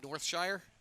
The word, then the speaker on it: Northshire: There's still something to a tangible book, and I think our next guest, Chris Morrow of Northshire, is that the right pronunciation? That is, yes.